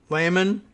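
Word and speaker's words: Lamon: lost the gym jim lehmann i guess i'm i'm gonna go with that pronunciation l-a-m-o-n plan to use his two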